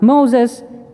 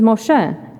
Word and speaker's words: Moshe: That is, of course, Moses, except that his name is not Moses, it is Moshe.